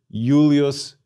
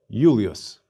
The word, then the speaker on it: Julius: Gaius Julius Caesar. Note that the diphthongs AI and AE are both pronounced I. We pronounce the initial I in Julius like a Y, Julius.